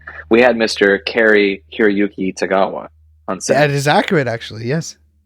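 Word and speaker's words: Cary-Hiroyuki Tagawa: set for a day we had um and pronounce his name correctly we had Mr Carrie kirayuki tagawa that is accurate actually yes yeah so you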